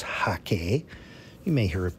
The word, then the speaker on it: hake: using the hake also pronounced or rather correctly pronounce hakee you may hear it pronounced hey care in the u.s but it is the hakay brush from china it is a goat hair